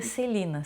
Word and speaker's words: Selena: em homenagem a Celina a gente escreve Selena mas o nome dela é se pronuncia Celina Selena Quintanilha EA Selena